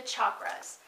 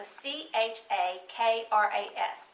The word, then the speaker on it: chakras: is through the chakras now that's spelt CH a think about it Chuck k-ras so CH a k-ras now a lot of people including me will say chakras that's okay it's technically really supposedly pronounced chakras so you may hear me